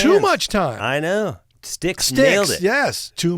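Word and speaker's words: Styx: old no no no ST YX St y yeah like the river sticks in Hell Paradise Theater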